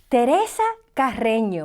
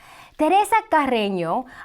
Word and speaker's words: Teresa Carreño: Teresa Carreño, let me pronounce that in English for you. Teresa Carreño, because, I go to the Spanish, but there are English pronunciations of this.